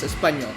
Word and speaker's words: espagnole: All right, the way you spell it is espagnole and the way it's pronounced is espagnole.